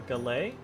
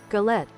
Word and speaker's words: galette: A galet?